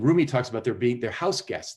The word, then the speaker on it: Rumi: called the house guest and it's about and roomie is spelled r-u-m-i and if you google roomie house